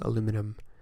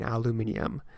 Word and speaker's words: aluminium: here my whole life we pronounced that word wrong though we you say aluminum and by saying aluminum we are skipping an eye we are completely missing that second eye and not saying aluminium it's like if we